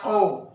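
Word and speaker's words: awe: Karena begini, kasih punya aspek adalah O. Katakan bersama dengan saya, O. Itu dalam bahasa Inggris tulisannya A-W-E. Bacanya O.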